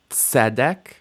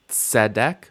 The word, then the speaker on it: tzedek: You need to be able to do that ts at the beginning of the word. For example, we have tzedek, tzedek, which means righteousness, and eitz, eitz.